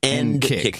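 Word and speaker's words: NCCIC: ncic n KCK ncic but he says end kick like kick but but well he kind of muffles it but end kick he says it's end kick that's the acronym thank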